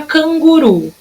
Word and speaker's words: canguru: Na palavra canguru, eu vou chamar a palavra canguru. Canguru! Qual que é a minha sílaba tônica na palavrinha canguru? A sílaba tônica é o ru, que foi a que durou mais.